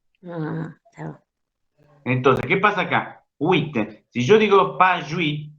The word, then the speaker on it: oui: Si yo digo pas jouy, pas jouy, pas jouy, estaría transformando en un diptongo el wit, que no forma diptongo. Wit, wit, wit. Aunque les parezca mentira, esa palabra tiene dos sílabas.